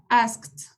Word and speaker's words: asked: El pasado sería asked. Recuerden que cuando termina en K se pronuncia como la T.